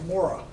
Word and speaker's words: Mora: Larry, how do you pronounce the name of that knife? That's a Mora, More And what's the country?